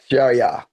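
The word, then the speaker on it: شريعة: But the ayn, but the ayn doesn't exist in English. So Okay. it's a letter, a halki key, a throat letter. So you got if you don't feel it in your throat, you're not saying it right.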